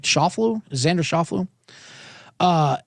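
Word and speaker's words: Schauffele: Scott versus uh Xander sha I never never pronounced his name right Shofu Xander Shofu uh it's a heavy juice it's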